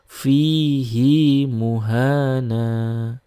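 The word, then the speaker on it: فيه مهانا: Hi di sini sebelumnya kan sukun seharusnya kan tidak dibaca mad ya dibaca pendek tetapi dalam riwayat hafz ini dibaca panjang atau dibaca sila sehingga dibaca fihi muhana ya.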